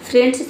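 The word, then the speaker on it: friend: तो आई ई को हम ए पढ़ेंगे। ठीक है? एन का न हो गया। डी का हो गया ड। इस तरीके से इसका प्रोनसिएशन जो है हो गया फ्रेंड।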